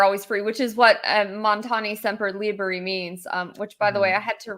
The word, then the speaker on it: Montani Semper Liberi: You know, I think one of the things that's ironic in Mountaineers are always free, which is what Montani Semper Liberi means, which, by the way, I had to